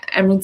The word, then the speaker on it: Emyrald: So you'll find that on both our Instagram channels, but her name is spelled EMYRALD Sinclair, so Emerald Sinclair.